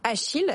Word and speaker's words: Acheel: bonjour bonjour Marie pour nos auditeurs podcast radio achile ça s'écrit a C H e e l faut